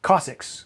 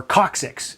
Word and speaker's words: coccyx: head and goes to your cossacks or coccyx as i mentioned there are different uh terminologies there's also different ways of pronouncing things just because some people